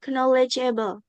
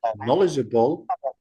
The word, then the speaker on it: knowledgeable: Our guide had been so friendly and knowledgeable. It's sorry, Hafiza. Knowledgeable. The K is silent.